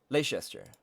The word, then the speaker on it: Leicester: How do you pronounce it? Leicester? Leicester.